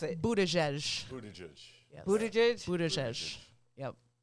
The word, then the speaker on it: Buttigieg: How do you pronounce it? Buttigieg.